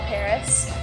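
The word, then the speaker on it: PVRIS: on MAR tour called Paris PV r i s um at first I was like how do you say that um so much simpler than you assume but yeah they're awesome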